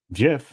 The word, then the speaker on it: Jif: Jif should be with a hard G.